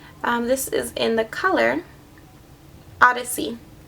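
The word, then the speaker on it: Odysea: This is in the color Odyssey, which is spelled really cute. It's spelled O-D-Y, captions, S-E-A, Odyssey. O-D-Y-S-E-A, Odyssey.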